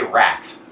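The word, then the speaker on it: Rakk: Beck pronounces it rocks. I say racks.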